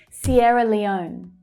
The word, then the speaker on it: Sierra Leone: Sierra Leone. Sierra Leone. Now it's actually the last syllable that's stressed there. It's the O as in go vowel sound.